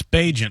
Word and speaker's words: Bagent: Is it Bagent? It's Bagent.